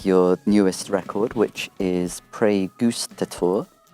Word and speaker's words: Praegustator: cusp of releasing your newest record which is pre Goose tour correct yes correct pronunciation yeah good job excellent and then that's